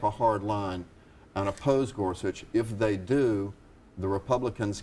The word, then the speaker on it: Gorsuch: start with you windy and talk about Neil Gorsuch for Supreme Court nominee your general thoughts on